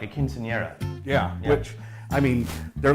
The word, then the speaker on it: quinceañera: Now they're coming back at a higher level for a, how do you pronounce that, quinceañera? Yeah, like a quinceañera.